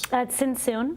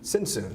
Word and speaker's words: Tzntzun: Tzntzun. Tzntzun, so the T is silent.